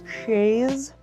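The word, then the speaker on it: chaise: Lounge Shay that's right my mom used to call it a Chase Lounge when I was younger which I think is just the like way that you you're pronounce it if you're standard American but I'm not standard now I say shay anyway this is my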